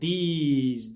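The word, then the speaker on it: these: bakın Bunlar O zaman biz buna diz diyoruz yani sonu Z gibi bitiyor tamam mı this bu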